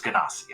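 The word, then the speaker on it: Genasi: yes uh carus is a an an earth ganos is that the proper pronunciation yes yeah yes ganasi okay uh but yes she is a 61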